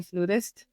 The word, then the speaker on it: flutist: because in English Okay. we play the flute, not the flout, but in other languages, you know, like in Spanish it's flauta, so they say flautista, and same in some other Latin-based languages. So that's kind of where the confusion comes, but they're both accepted.